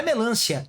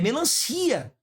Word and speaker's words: melancia: Teve gente que errou não é melância é melancia melancia a sílaba forte nem é o lã é o si é paroxitona terminada em